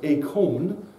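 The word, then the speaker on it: εἰκών: word image here is a Greek word which is uh pronounced as a con where we get the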